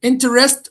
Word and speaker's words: interest: Then we have is it interest or interest? Interested. Interest. The stress lies on the first syllable.